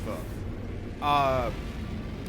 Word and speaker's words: pho: I believe it's pronounced pho. This is a question from chat.